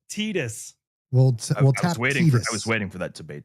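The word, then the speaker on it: Tidus: It's pronounced Tetus.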